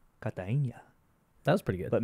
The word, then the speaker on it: Cartagena: I was in Medellin and Cartagena. I can't pronounce them right. Yeah, clearly. Well, Cartagena, I can get closer. Cartagena, they say like, Cartagena.